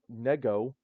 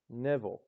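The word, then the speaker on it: него: Same with nivo. It's not pronounced nego, as bad as that sounds, it's pronounced nevo.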